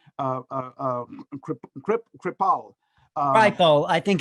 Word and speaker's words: Kripal: Jeffrey, I always mispronounce his name, Kripal. Kripal, I think it's Kripal. That's what it is, Kripal.